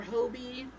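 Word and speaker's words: Hobbii: I always say hobby because that makes sense to me. In the English language, normally when things are spelled like that, it is a short O sound.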